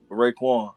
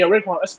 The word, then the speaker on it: Raekwon: But Yeah, also, about to say, real quick, how do you say your name? Raekwon, Raekwon. like the chef. Yeah, Raekwon.